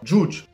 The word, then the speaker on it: Judge: va parler d'un manga djoudj un bar j'ai passé se prononce bien ça s'écrit j eus dge c'est une personne qui